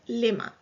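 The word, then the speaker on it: لِمَ: And again in the spelling, the alif in the ma is dropped. So it's pronounced and written lima.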